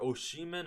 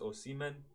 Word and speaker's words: Osimhen: Is it Oshiman or Osimen? I think it's Osimen.